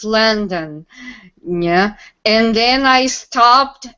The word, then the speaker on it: London: yeah and she said no it's not long dong it's landon yeah and then i